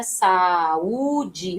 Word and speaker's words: saúde: Saúde, veja, ó, saúde, saúde, saúde. Veja que o U tem autonomia na pronúncia, né? Ele fica em destaque.